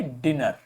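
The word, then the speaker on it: dinner: pronunciation ठीक जैसे देखो दो कॉन्सोनेंट है और फिर एक वाउल आ रहा है पहले तो क्या हुआ ये डिनर दो वाउल कॉन्सोनेंट थे सेम और उसके पहले एक वाउल था तो ये क्या हुआ डिनर तो डबल एन है सो so that it is pronounced as a short वल लेकिन देखो यहां पर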